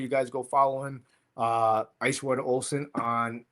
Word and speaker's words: Icewater Olson: It's Icewater Olson, exactly how it's spelled.